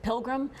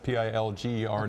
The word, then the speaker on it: Pilger: This is near Wisner, and earlier was it Pilgrim, Nebraska? Pilger, Nebraska. Forgive me if I pronounce it wrong, but it's Pilger, Nebraska.